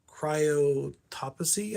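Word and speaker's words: Cryptopsy: Crown of Thorns from Cryotopsy, I think is how you pronounce her name, is C R Y like cry T uh P tsy.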